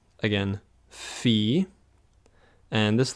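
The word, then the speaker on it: φ: get to that in another lesson next is fee again fee and this letter is you could say like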